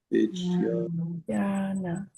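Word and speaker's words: vijñāna: I should say more of a, so I should really say vijnana. Vijnana. So again, it's a word that has 3 syllables, but 4 beats. So that middle syllable, jnya, you hold for 2 beats.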